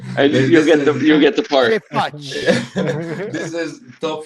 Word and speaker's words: ce faci: phonetically. That was impressive. Krampus. I would say Okay, now say it slowly. Ce faci? How did I do? Yeah. Now say it without your shirt on. Ce faci?